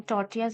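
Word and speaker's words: tortillas: Then टॉर्टियाज है, टॉर्टियाज में double L silent है।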